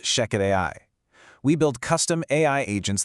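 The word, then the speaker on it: Shechet AI: That's spelled S-H-E-C-H-E-T, but pronounced Sheket AI.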